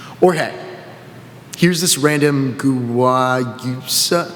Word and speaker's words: guayusa: Or hey, here's this random guayusa, it's guayusa, but we didn't know how to pronounce it at the time.